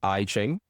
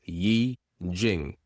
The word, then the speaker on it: Yi Jing: that to people, that we don't say I Ching, it's Yi Jing. And if you had to spell it out, it would be Y-I-J-I-N-G, Yi Jing, not I Ching.